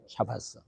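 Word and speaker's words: שבת: 이게 샤바스입니다. 샤바스. 그래서 이렇게 이제 샤바스라고 읽죠. 샤바스.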